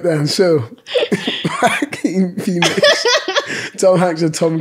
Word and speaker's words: Phoenix: Jow Quinn Phoenix, Tom Hanks, a Tom Cruise.